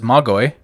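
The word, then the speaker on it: μάγοι: It says Magoi, right?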